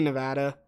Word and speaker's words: Nevada: Nevada or Nevada? It's definitely Nevada.